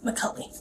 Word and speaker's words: McCulley: McCully.